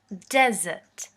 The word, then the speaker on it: desert: As a noun, it's pronounced as desert. Desert.